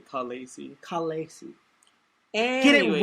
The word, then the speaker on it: Khaleesi: The Khaleesi of the Into Darkness Kingdom, which is that's how it's pronounced apparently. Khaleesi.